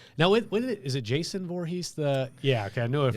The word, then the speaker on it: Voorhees: Did I say it right, Voorhees? You did. Okay. Nailed it. Even though I dropped an O accidentally on the first time I Two O's. Two O's, yeah.